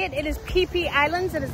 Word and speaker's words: Phi Phi: It is Phi Phi Islands. It is not Phi Phi. It is Phi Phi. That's how you pronounce it here.